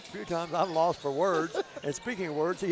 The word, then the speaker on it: Words: A 3 there by Kingston Words. Kingston Words, let's see. That's only his 5th points of the night, 2nd bucket. They spell it just like it sounds, W-O-R-D-S.